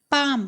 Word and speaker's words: palm: ठीक है, क्या लिखा था, PALM, लेकिन बोला क्या जाता है, PAM, पाम, पाम मतलब पंजा।